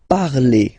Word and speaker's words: parlez: Let's see now for vous, vous parlez, okay? Remember, a Z, when you combine them together, you get the sound E.